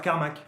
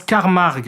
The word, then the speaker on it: Carmack: Le professeur Carmack. Non, ça se prononce Carmarg, qui s'arrache une oreille